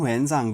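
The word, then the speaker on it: Xuanzang: है तो दूसरा है स्वन त सांग स्वन स त सांग ता साइलेंट हो जाता है ना इसमें सांग स्वयं सांग स्वयं सांग इस तरीके से बोल सकते हैं जिसको हम वन सांग भी कहते हैं आपने पढ़ा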